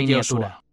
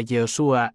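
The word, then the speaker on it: יהושע: La forma más antigua y completa era Yoshua. Yod era la forma abreviada del nombre divino. YHWH, Shua venía del verbo yasá, que significa salvar, liberar, rescatar. Cada vez que alguien pronunciaba Yehoshua, estaba, en realidad, proclamando una confesión y o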